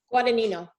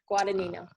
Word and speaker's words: Guadagnino: Guadagnino. Guadagnino. So pretend the G in the middle is not there. Guadagnino.